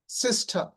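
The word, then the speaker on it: sister: কিন্তু British Xcent অনুযায়ী হবে মাদা সিস্টা ব্রাদা।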